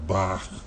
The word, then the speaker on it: Bach: name I'm you I'm kind of pronouncing a German style Bach he was some would